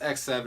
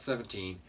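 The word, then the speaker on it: X-Seven: great come in number 8 from x7 it's pronounced x7 it's not 17 because it's written out ex hype and seven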